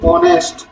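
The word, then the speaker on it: honest: বলে দিই জিনিসটা এখানে এই থাকলেও উচ্চারণটা হচ্ছে অনেস্ট অনেস্ট উচ্চারণ হচ্ছে তাই এখানে আমাদেরসার হবে তাহলে সেম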